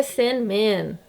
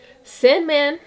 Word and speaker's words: Sandman: né o certo é sen Man tá então a sílaba tônica é o Man inclusive Batman né enfim a pronúncia deveria ser puxada no Man e não no Bat como a gente faz